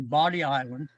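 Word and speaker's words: Bodie Island: A lot of people pronounce that Bodie, but it's actually Body Island.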